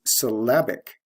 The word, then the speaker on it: syllabic: the adjective form is syllabic notice the stress shift from first syllable to second syllable we have l e